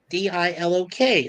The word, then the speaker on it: Dilok: One is Bogo, Bogo, and the other one is Dialog, Dilok. That's really easy to say. Dialogue. Lock. Dialogue. Die and LOK, or like LOCK, lock.